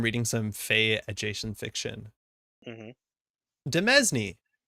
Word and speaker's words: demesne: some Fay adjacent fiction demesne definitely thought you pronounced the s in it yeah once again I'm